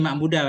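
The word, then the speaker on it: مَعْبُودَ: Ini ma'budah bacanya ya.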